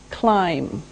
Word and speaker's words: climb: now the first verb is climb climb now it doesn't sound like it looks now if this letter B is silent climb okay we climb a